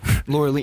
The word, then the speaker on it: Laureline: Laureline. But Yeah, they say it like French.